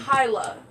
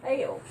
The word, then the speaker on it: Haile: That's His name is Hyla. Hail it's like- Selassie is the way. it's Hyla is pronounced. his name? Well, I figured it was Hail.